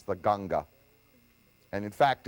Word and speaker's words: Ganga: rivers of the world it is mispronounced in english the ganges that's an english word but uh all over india it's the most famous river of all it's the ganga and in fact it's